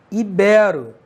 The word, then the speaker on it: ibero: não é número Oi e sim ibero sem acento ibero beleza ibero proparoxítona ou paroxítona beleza pessoal então o